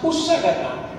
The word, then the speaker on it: unsagatan: Unsagatan, we pronounce usagatan.